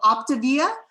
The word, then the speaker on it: Optavia: mamma mia um and think optivia so it's all in where you're putting the um the symbol the the emphasis so optivia mamma mia um so hopefully that's